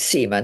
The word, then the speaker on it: Seymour: um well I think the the SEMA family pronounce it SEMA now so I think it's SEMA but you